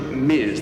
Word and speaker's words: Ms: to do is to divert to Miz that is the professional standard and and hopefully you can see and hear the difference it's m Ms period um if you so